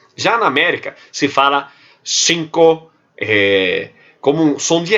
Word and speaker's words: cinco: A letra C e a letra Z, na Espanha, ela é pronunciada como interdental. Eu digo cinco. Vocês já devem ter percebido que muitas vezes, quando eu pronuncio cinco, cerro, eu pronuncio com os dentes, a língua entre os dentes. É o interdental, como na Espanha.